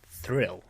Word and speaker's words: 3iL: and the song is 3il which is what i learned only a couple years ago was meant to be thrill but it's written three ill i did